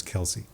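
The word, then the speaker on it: Kelce: only see it written twitch Chad said it's Kelsey Travis Kel's debut as film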